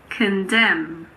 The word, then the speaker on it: condemn: We don't pronounce N if it comes after M at the end of a word. For example, autumn. It's not autumn. It's just autumn. Column, condemn, dam, hymn. What about the letter P?